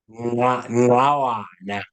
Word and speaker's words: Ngqawana: But Brian, you can tell how do we pronounce his last name? Yeah. Ngqawana.